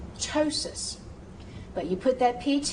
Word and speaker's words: ptosis: If it begins with PT, use the T sound, such as ptosis, as we've already said, ptosis.